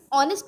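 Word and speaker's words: honest: अब यहाँ पे ऑनेस्ट है, एच हमारा साइलेंट है, ऑनेस्ट निकल रहा है, और ऑनेस्ट में हमारा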